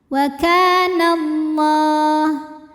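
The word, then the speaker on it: والله: dibaca panjang dua harakat waallah lam pada lafaz Allah dibunyikan secara tafkhim sebab huruf sebelumnya berbaris fathah maka dibacanya tebal pangkal lidah dinaikkan u kemudian Alif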